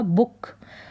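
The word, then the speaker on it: book: बुक का मतलब किताब इसका उच्चारण शॉर्ट हो रहा है डबल ओ का बुक फिर ये है अर्थ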